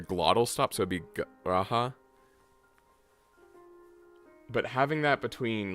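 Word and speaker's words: G'raha: Garaha. I'm just gonna say it like Garaha, I guess. Garaha. Unless I try to force the glottal stop, but anyway.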